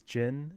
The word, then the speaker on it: GHIN: So, the handicap comes from buying a gin, which I actually looked it up and I guess the way to pronounce g h i n is jin.